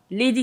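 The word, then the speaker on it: Leydi: C'est ça, c'est bien Lady, ça s'écrit L-E-Y-D-I.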